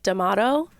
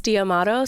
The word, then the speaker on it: D'Amato: that if you're in Italy they probably say damato but he says damato so that people can know how to spell it and know how to find him before